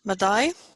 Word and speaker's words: Madai: Madai, 2 syllables, ma and dai.